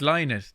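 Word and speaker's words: Lynott: you know yeah actually you pronounce his name right but everyone in ireland pronounces it wrong including me i always call him phil lynette but it's not it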